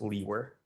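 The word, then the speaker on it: Liewer: last name and my last name is spelled l-i-e-w-e-r and it's pronounced Lee were and where are you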